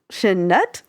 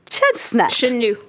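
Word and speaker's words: Chenut: And the music was by Jean-Marc Chesnut. Chenu. Chenu. Lawrence Dufresne, which I do know how to pronounce because I have a friend Because with of that last Shawshank name.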